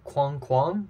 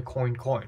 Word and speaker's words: Coin Coin: 5 in the garden so uh it's not pronounced Quang kuang like the French anamia for duck uh for for duck quacks no it's actually coin coin not Quang kuang and I know that thanks